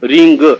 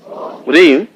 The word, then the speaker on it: ह्रीम: ओम ओ रीम रिम देखिए मैंने आप में री म शब्द उच्चारण किया है रिंग ऐसा भी बोला जाता है इसलिए रीम बो रीम